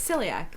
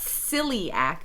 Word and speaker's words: celiac: Don John is celiac how do you say that we have to it's silly act so yeah I can listen hear it CL silly I it's not silly act so yeah it's like Cecil yeah it's see II